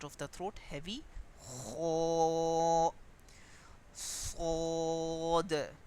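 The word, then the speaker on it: ص: Kho, sod. So this letter is pronounced with the raise in middle part of the tongue.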